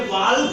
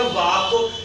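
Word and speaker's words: walk: हैं, बट जैसे ही ये वाल्क नहीं है ऐसे ये मार्केट नहीं है, ये है मार्केट, ये है मार्केट, और ये है वाक, ये है जज, और ये है शुड, और ये है फॉर।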